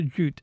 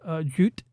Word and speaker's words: Jute: then Anavel Gato goes, Jute, like with the extra syllables that Japanese people use.